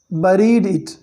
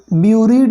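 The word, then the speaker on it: buried: बट लेकिन I have forgotten where I हैड बरीड इट, ठीक है। इस वर्ड को आप स्पेशली पढ़ोगे, ब्यूरीड नहीं पढ़ोगे आप, ब्यूरीड गलत है, ओके, बरीड पढ़ोगे आप, बी यू को बा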